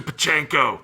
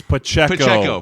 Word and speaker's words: Pacheco: Throw it to Pachenko. It's Pacheco.